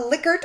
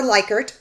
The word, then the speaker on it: Likert: deeper analysis with so again a likert or likert i don't even get me into the stupid debate on how to pronounce this it can be pronounced both ways just fine uh the liquid scale